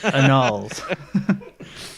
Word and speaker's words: annals: It's pronounced annals.